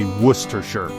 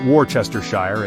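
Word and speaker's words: Worcestershire: The answer, and try saying this one after a couple of pints, is Worcershir, pronounced roughly Worcershir, not Warchestershire, as many an unsuspecting visitor has attempted.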